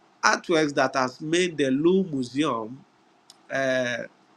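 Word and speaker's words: Louvre: to pronounce everything but in French you don't pronounce everything so they is called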